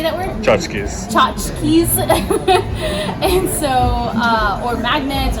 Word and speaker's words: tchotchkes: Tchotchkes.